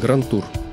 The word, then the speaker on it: grand tour: речь заходит о путешествиях часто оно произносится неверно на современный манер когда на конце слова грант ставится буква д но мы будем использовать оригинальное написание так как это французское слово то буква д на конце не произносится а называли гаранту рам